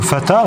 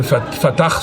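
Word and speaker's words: Fatah: Hamas alors l'OLP c'était le fata c'est ça non le Fatar c'est la manière de prononcer en arabe l'OLP c'est organisation libération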